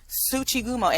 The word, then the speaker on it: tsuchigumo: it oh yes the uh spider demons yes tsuchigumo and yes that is correct how you pronounced it you can call them spider demons